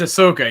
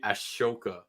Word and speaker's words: Ahsoka: pronounces it differently but I'm pretty sure it's Ahsoka it's Ahsoka yeah a lot of people say Ashoka yeah and it sounds